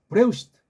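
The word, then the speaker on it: בראשית: 응 그다음 타운은 자니까 으 트 브 레 으 쉬 응 트 그렇게 읽으면 돼요 브레시트 브레시트 브레시 어떻게 건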